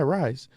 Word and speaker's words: Rhys: How do you pronounce his first name? Is it Rise? Rhys? Yeah, Rise? So. Yeah, Rise.